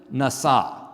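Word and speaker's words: נָשָׂא: the word to lift, nasa. Let's all say nasa. So, it sounds a little bit like NASA.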